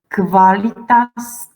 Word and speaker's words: qualitas: Okay, and thus ku, we said something about ku that it's only in combination with u, ku and u, and we pronounce as kv, qualitas, obliquus, liquor, quadriplegia.